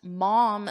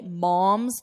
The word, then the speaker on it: mom: Notice my mouth. Mom. But here, mum, It's more of an unstressed mum. Mum's the word. So don't say mom's the word. It's not mom, mother.